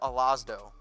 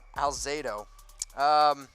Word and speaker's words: Alzado: I used 77 in honor in the most bad-ass Raider, Lyle Alazdo. Wow, I pronounced his name really wrong. I literally can't speak right now. Alzado.